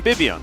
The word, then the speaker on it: Vivian: why my cat his name is Vivian we call him bibion which sounds a little bit more like a boy's name I understand Vivian not necessarily very common yeah both B and V are pronounced B in Korean uh right there this